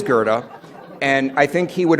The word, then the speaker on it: Goethe: the CTA bus drivers routinely mispronounce as goofy but it is Gerda and I think he